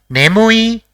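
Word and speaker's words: ねむい: see the next word the first character in the word is the second Is mu and the third is e so it will be pronounced as nemui which means sleepy let us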